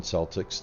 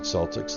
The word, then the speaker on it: Celtics: Boston Celtics but any self-respecting British person as far as I can tell would not call the Boston Celtics the Boston Celtics they would call them the Boston Celtics and indeed the Celts themselves would call themselves Celts and not sucks so I do believe